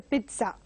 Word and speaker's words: pizza: And something very interesting to always think about and eat is the pizza. So again, mispronounced as pizza by many.